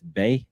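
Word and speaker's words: Bai: I guess that's Bay. Is that right? Yeah, it's spelled B-I.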